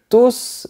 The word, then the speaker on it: tous: J'utilise « tout » T-O-U-S parce que je qualifie le nom « jour » qui est masculin et pluriel. On ne prononce pas le S parce que je qualifie le nom qui suit.